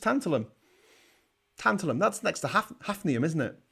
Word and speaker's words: tantalum: don't know tantalum tantalum but it is tantalum it's not tantalia i mean lee i can't even say that tantalium no it's just tantalum tantalum that's next to